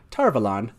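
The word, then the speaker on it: Tar Valon: quite self-evident that's correct robert jordan just said tarvalan which i thought was quite self-evident there you go everybody darvalon so yes uh there's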